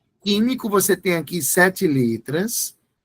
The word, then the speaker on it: químico: você pronuncia assim olha você não pronuncia o u você pronuncia assim ó